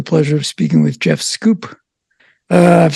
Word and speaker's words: Schoep: of speaking with Jeff scoop uh I've said that right right and it's one of those names that s-c-h-o-e-p scoop um not like it's spelled but uh so thank